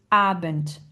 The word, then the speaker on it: Abend: Ensuite, on va avoir guten Abent. Guten Abent, vous entendez à la fin, on va dire un on entend le T.